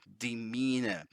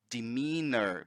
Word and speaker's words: demeanor: going to say demeanor demeanor because they pronounce the R British accent doesn't pronounced you so demeanor demeanor right so demeanor